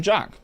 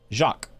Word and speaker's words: Jacques: Just call him Jack. Jacques. So his name's Thibaut Jacques.